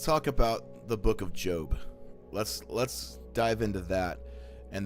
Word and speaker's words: Job: Job, J-O-B. It's like job, but it's pronounced Job.